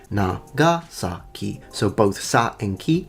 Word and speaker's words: Nagasaki: In Japanese, this is usually said as Nagasaki. Nagasaki. In English, however, it is normally pronounced as Nagasaki.